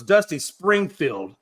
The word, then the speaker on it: Dusty Springfield: I mean, and I did say her name wrong. I wanted to make that right. So, it's Dusty Springfield.